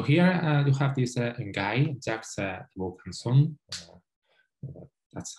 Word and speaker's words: Jacques Vaucanson: So here you have this guy, Jacques Vaucanson. That's how my friends is pronounced, okay?